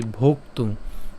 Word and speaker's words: ভোক্তুং: আছে বিধায় সেজন্য হচ্ছে শ্রেয় উচ্চারণ করলাম শ্রেয় ভোক্তুং এখানে আমরা যেটা করলাম এই ভোক্তুং এখানে ভোক্তুং ভকার এবং হচ্ছে ক আমরা উচ্চারণ করলাম ভোক হ্যাঁ এবং ত এর সাথে